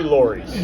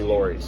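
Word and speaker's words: Lawry's: sounds more Regal right and it should be Lori's yeah and there was a the lore is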